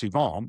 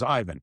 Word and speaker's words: Ivan: He said, it's in Montreal, so it's Yvon, but his name is Ivan. So everyone in Montreal will call him Yvon Demidov. If I go in there, I call him Ivan Demidov.